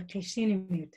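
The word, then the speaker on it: Cup'ik: michelle uh can you tell me how to pronounce the name of your tribe in your life that's right yes it's called the casino tribe thank you well it's so great to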